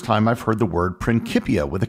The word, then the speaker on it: Principia: was written in Latin in Latin the letter c is always pronounced as a hard C like the letter k principia is an anglicized